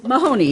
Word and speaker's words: Mahoney: how do you say your last name mahoney mahoney okay and you are a community organizer